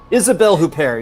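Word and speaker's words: Isabelle Huppert: he said one right isabelle who pair you're very close ah so close on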